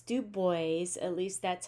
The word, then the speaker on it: Du Bois: you say uh do boys names it's not dubois it's dubois at least that's how many people have said to pronounce his name including w e b du